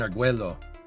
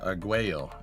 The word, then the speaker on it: Arguello: They use that pad at Point Arguello. Or Arguello, it would be the right way to say that.